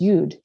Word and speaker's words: yod: in hebrew the aleph consists of two yods pronounced yud one eud is situated to the upper right